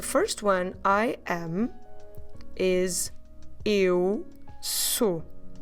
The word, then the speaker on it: eu: It's a diphthong, so it's two vowels in the same syllable. Eu. You start with your mouth open, of course, but at the end, you will put your lips round and forward.